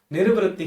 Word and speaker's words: निर्वृत्ति: ज्यादातर लोग उसको जल्दबाजी में या ऐसे ही डिटेल में इंटरप्रिटेशन नहीं करते तो उस जल्दबाजी में निवृत्ति बोल देते हैं, वो गलत। निर्वृत्ति ही विशेषः च, ये एक्चुअल प्रोनाउंसिएशन है।